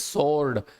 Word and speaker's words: sword: तलवार हो सकती है, SWORD लिखा होता है, बट the pronunciation is सोर्ड, इसको सोर्ड नहीं बोलते हैं, सोर्ड।